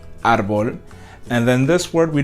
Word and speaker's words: árbol: So árbol does end with an L, but we don't say árbol. We actually put the accent up here because this is where the stress is, árbol.